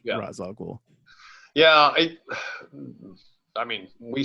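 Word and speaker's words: Ra's al Ghul: how to say it I was convinced it's Ral ghoul in this movie but it's not it's razag yeah I I mean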